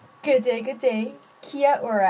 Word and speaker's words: Kia ora: good day good day Kia Ora actually that is how they say it in Mari um so this is